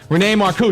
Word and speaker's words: Renee Marcou: Renee Marcou, did I say it right?